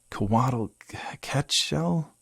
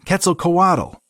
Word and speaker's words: Quetzalcoatl: "Coatl... Quetzal?" Jim butchered and thought he felt something move in his mind. "Nah, kid, Quetzalcoatl."